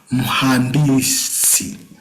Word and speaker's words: mhandisi: It's a very simple word to pronounce, daktari. Now we have mhandisi.